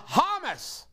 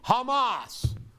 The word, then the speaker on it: Hamas: 2022 and 2024 uh hummus or excuse me hamas i always pronounce it get grief over it hamas gave al-jazeera a